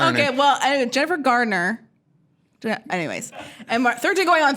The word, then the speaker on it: Garner: comedies a little Jennifer Gardner Mark ruffle Jennifer gardener Gardner Gardner Jennifer Gardner Garner say it Garner Gardner Gardner no D I'm not saying D